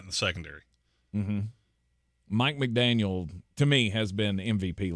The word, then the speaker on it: McDaniel: Mike McDaniel, to me, has been MVP level for this team. Mike McDonald. Mike McDonald.